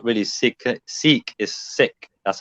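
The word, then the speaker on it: Sikh: it don't pronounce it you don't pronounce it seek you pronounce it sick that's correct okay be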